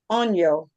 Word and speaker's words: año: yo, Okay, now pronounce them together. on yo.